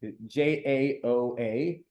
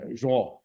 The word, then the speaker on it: João: many times happened, so now King João, I don't know exactly, Jaoa, with a bunch of things. I don't know how to pronounce things in Portuguese, but I asked Linda, who actually does speak Portuguese, and she said João.